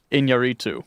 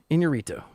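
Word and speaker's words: Iñárritu: Bur Inorito. Yeah, I was way off. Inorito. Inorito. pronunciation.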